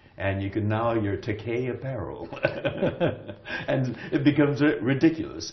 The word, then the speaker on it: Takei: Takei I'm gay and Takei rhymes with gay so if you can't